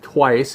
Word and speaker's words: Twaice: And so what is it that you're doing with Twice? And let's just say how it is spelled. It's twice with an AI in it.